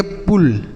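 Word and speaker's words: pull: पी U double L इसे हम पढ़ेंगे पुल। ठीक है? तो अगर यू के बाद डबल एल लिखा रहता है तो उसे हम छोटा उ की मात्रा कहते हैं।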